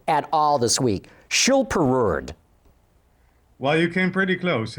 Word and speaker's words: Schilperoord: been saying this right at all this week chill per word well you came pretty close it's super awards but I don't think anybody outside of holland's can pronounce that correctly super roared yeah is that right okay every time I